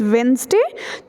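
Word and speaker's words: Wednesday: day take place में से वे remember this वेनसडे तो इसको हम प्रणाम करते हैं यह भी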